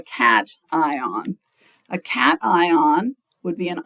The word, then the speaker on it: cation: I know it looks like cation, like a vacation or something, but it's a cation.